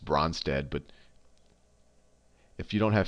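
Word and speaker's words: Brønsted: that is the and I don't know the correct you know I always say just bronze dead but if you don't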